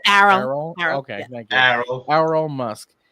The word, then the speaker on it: Errol: So Elon's father was this guy named, I don't know how to pronounce that, so I'm going to say Earl, but that makes me think of Earl the dinosaur. It's Errol.